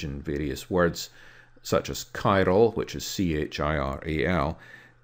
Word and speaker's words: chiral: various words, such as chiral, which is C-H-I-R-A-L. When we pronounce it in English, we pronounce it just something like a K.